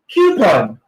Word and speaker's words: coupon: Now, let me give you the proper or the correct pronunciation of the following keywords. Now, repeat after me. Coupon.